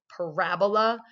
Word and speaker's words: parabola: But the way you do say that is parabola with the accent on the raw.